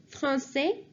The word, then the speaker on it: français: And now I'm telling you the pronunciation for each one of them. So please listen carefully. For French, it's français, française.